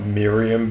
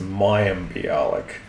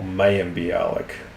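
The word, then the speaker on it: Mayim: It's not Miriam Balik, it's Mayik or Mayik.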